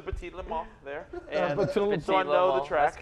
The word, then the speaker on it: Petit Le Mans: And Petit Le Mans. So I know the track. That's good. That's how you pronounce it?